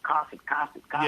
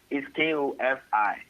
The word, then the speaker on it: Kofi: And I know a lot of times in the being in the States, a lot of people pronounce it Kofi. Yeah, yeah. You know? Yeah, man. But it's Kofi.